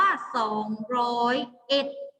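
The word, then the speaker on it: สองร้อยเอ็ด: ปากกา ก่อน เห็น ไหม ตัว เลข ที่ มัน ลง ท้าย ด้วย 1 เรา จะ อ่าน ว่า สอง ร้อยเอ็ด จะ ลง ท้าย ด้วย คำ ว่า เห็ด นะ เรา จะ ไม่ อ่าน ว่า 201 จะ อ่าน ว่า เอ็ด โอเค นะ ตัว เลข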